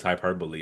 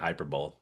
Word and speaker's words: hyperbole: I mean, I was in my mid20s before I knew it was hyperbole and not hyperbolt.